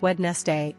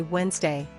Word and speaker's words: Wednesday: one pronouncing Wednesday as wedness day instead of Wednesday fix skip the D and just say Wednesday Wednesday Wednesday two mispronouncing